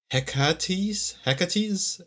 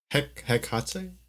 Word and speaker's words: Hekate: Hecate? It's Hekate.